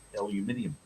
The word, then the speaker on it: aluminium: It's a proper uh spelling and pronunciation of of the actual element of aluminium.